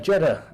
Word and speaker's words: Jeddah: That was Jeddah. Jeddah rhymes with cheddar, as in cheese.